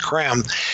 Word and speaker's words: Creme: London spelled CR eme it looks like cream but it's pronounced cram he can use to